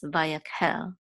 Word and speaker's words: Vayakhel: so here we see the accent is under hell this Muna is under hell so it's not hell it's vayaquel okay and this is